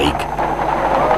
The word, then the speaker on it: Ike: Y le contesté, dicen Ike, que es como se pronuncia en español su apodo. En el edificio más alto de Madrid todas las ventanas habían sido tapadas, excepto aquellas que formaban la palabra Ike.